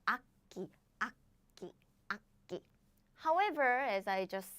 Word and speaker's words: 악기: So we don't pronounce it like 악기. Oh, I naturally pronounce 악기. 악기, 악기, 악기.